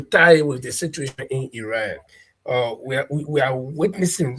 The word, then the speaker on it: Iran: People can say Iran, but that country is pronounced Iran because I've talked to Iranian. I asked them what is the name of the country. They say Iran. They didn't say Iran.